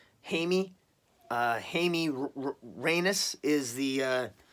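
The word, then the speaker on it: Jaime: spelled Jamie J I and II but it's pronounced hey me hey me Reynes is the sounds like anus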